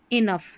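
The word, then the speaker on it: enough: चलिए यहां पर कॉफ लिखा है इसलिए कॉफ और इनफ। यहां इन ऑफ नहीं पढ़ेंगे इसको इनफ पढ़ेंगे।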